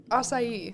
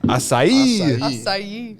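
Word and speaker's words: açaí: so Maddie how do you say this again acai acai yeah okay I'm excited I haven't even had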